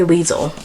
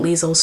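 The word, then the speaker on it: Liesel: It's spelled L I E S E L. So, I'm just going to say Leisel.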